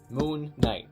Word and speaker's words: Moon Knight: Of course, when you have something like Moon Knight, that's actually a compound word that's pronounced in a spondee pronunciation style, which means double emphasis. Moon Knight, it's a bold statement and it requires double rhymes.